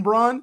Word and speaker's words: Braun: Christian Braun, right? So I think it's Brown, actually. I think they pronounce it Brown. Who knows? No, it's Braun. Christian Braun. I trust me, it's Braun.